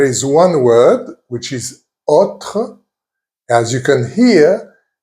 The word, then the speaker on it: autre: However, there is one word which is autre. As you can hear, I'm not saying autre, I'm saying autre. So the O is more open.